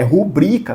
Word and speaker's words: rubrica: É rubrica, tá, pessoal? A sílaba tônica é a segunda aqui, ela é uma paroxítona.